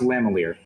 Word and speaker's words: lamellar: If it's lamellar leather, Yes, it is leather. then all right. Okay, thank so you. for everyone's sake, just because I have to throw it out there, it's pronounced lamalier.